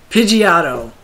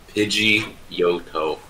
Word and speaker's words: Pidgeotto: Pidgeotto. It's Pidgeotto. Pidgeotto. Pidgeotto. But it is Pidgeot. It's Pidgeotto. Wait, Pidgeot. Is Pidgeotto 3 syllables now?